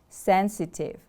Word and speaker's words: sensitive: needs problems or feelings sensitive the stress is on the first syllable sensitive repeat after me